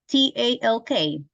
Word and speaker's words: talk: Another one, this one with T-A-L-K. T-A-L-K. Uh-huh, yeah. Talk. Talk. Okay, Carla, which is the letter that is silent?